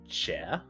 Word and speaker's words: chè: The most common I could think of is chè. So it's like a what's the best way? So it's spelled CHE.